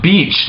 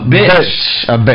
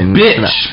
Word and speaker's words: bitch: 我看有人说 son of beach， no 发音很重要，你